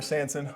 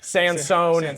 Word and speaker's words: Sansone: guy what at Sanson on Instagram Hunters he's still learning how to pronounce my last name Sansone Sans it's all right it has an e which is silent right uh Sansone